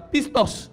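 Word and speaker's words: πιστός: c'est un mot grec bon je vais prononcer ce mot-l hein je suis pas grec mais on va prononcer ça pistos dis avec moi pistos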